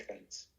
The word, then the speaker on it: Heinz: Estos se llaman cuerpos de Hans. H, E de Eduardo, no A de Angélica, E de Eduardo, y latina, N de niño, y Z, Heinz. Como es alemán, se pronuncia Heinz, cuerpos de Heinz.